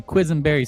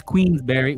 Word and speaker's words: Queensberry: I knew there was a quizenberry somewhere. Or isn't that a pie, too? Boenberry pie. It's Queensberry Huto freelino.